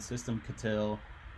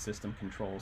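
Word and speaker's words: systemctl: to go ahead and system katil um i pronounce it that way on purpose i know it's system control ctl it wants us to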